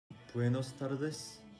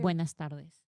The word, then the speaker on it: Buenas tardes: Buenos tardes. 9 out of 10. What did he say? I didn't hear. Buenas tardes. But he said buenos tardes. Wait. No. Buenos tardes. Buenos tardes. Buenas tardes.